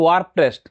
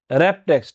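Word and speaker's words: Wrap Text: এখানে লেখা আছে ওয়ার্প টেক্সট, আসল উচ্চারণটা কি হবে, র্যাপ টেক্সট।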